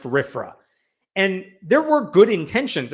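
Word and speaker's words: RFRA: passed the religious freedom restoration act RF it's pronounced rifra and there were good intentions again this is a democratic under a Democratic president there were good reasons for passing rifra uh the legislation would protect religious freedom in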